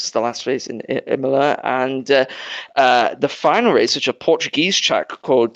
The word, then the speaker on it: Imola: Yes, Imola. Yeah. I'm happy I pronounced that one right.